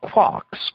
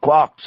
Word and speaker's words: quark: instead of a t it is usually pronounced to rhyme with luck there are a number